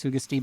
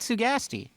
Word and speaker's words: Sugasti: And I know it's Sugasti, but whatever. I call it Sugasti. So, because that's why it rhymes with nasty.